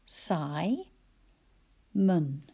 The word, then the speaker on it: Simon: how about the name simon i can hear two syllables psy mun again that schwa has appeared so psy must be the stressed syllable and i could hear